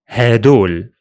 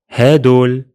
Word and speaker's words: هدول: We simply change the letter ذال into دال, and that's all. So هذا becomes هذا, هذا. هذه becomes هادي, هادي. And هذول becomes هدول. هدول.